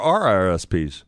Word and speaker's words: RRSPs: The prospects are I don't have RSPs. RSPs, no. Or RRSPs. I said it wrong? Yeah, there's two. There's two R's on it.